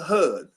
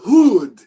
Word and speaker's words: Hud: hud no it's not hud that's western it's eastern so it's hood because it's the long u and plus in the